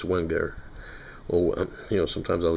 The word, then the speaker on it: Wenger: I believe it's, they pronounce it Wenger, but I don't speak German, so, I mean, my New York accent kind of takes over. It's Wenger.